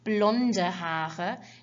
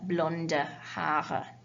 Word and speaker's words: blonde: blonde hair is blonde don't forget when you have an e on the end of a word in german you always pronounce it with that kind of uh sound okay so that means you've got blonde okay red hair is